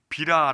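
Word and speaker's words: בירה: 라는 단어를 동상 사용합니다 하지만 여기 본문에서는 비라 라고 달어 발음되는 포로기 이후의 단어를 사용하고 있습니다 구약의 총 16번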